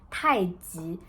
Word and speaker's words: 太极: And actually the right pronunciation is 太极.